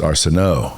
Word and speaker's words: Arsenault: Now, it's Arsenault, right? It is, yep. Even though it's spelled Arsenault. Yes. It's Arsenault. Arsenault, it's almost French, of course.